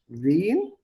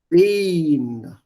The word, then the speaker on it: wen: The difference between wen and when. This is long. The pronunciation is long. How do I give this? Wen. Wen. Whereas this one, when.